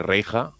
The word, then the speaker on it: Reija: es Reija o es Reisa, también se pronunciaría, o Reija. Reija, es un apellido, de hecho es un nombre finlandés, pero es un apellido muy común en Galicia, y es Reija, y Reixa, en Galicia también lo traducen, ¿no?